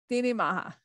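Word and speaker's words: Daoine Maithe: Priestess of the Deoin Matha. Is that correct? Deoin Matha. It's Irish. And I know Irish is very different for English speakers to look at, because it has different grammar and pronunciation rules.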